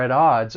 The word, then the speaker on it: at odds: I want you to look at that word at. Okay? Okay, typically it would end with a stop t. But in American English, because I'm from the United States, that T comes between two vowel sounds. So I am going to pronounce it as a flap T, which is going to sound a little more like a soft D. And then I'm going to take that soft D and link it with the vowel sound in odds.